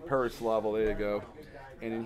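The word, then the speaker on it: Pereslavl: Alexander, I can't pronounce that. Yeah, Preslavl. Perislavl. Perislavl, there you go.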